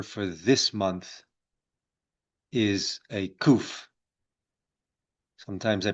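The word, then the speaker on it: קוף: the Hebrew letter for this month is a kuf. Sometimes they pronounce it, you know, the kof, but we we in the Judaism say kof and a kof in in Jewish thought it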